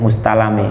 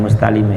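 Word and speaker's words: مستلم: Nah kalau ini bacanya kudu mustalami. Jangan mustalimi tapi mustalami miniri mustalami saking luwih bagus sebaguse wong kang den jaluki.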